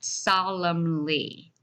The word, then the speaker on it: solemnly: to it all right that n is still silent so we pronounce it solemnly so serious or great